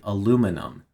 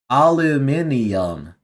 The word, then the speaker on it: aluminium: This is uh that is uh British aluminium instead of American aluminum. Uhhuh. Al aluminium.